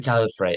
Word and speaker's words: Gallifrey: It's a Gallifrey, actually, yeah.